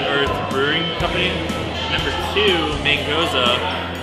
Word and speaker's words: Mangoza: Number two, Mangoza, which gets pronounced as mangoose 9 times out of 10.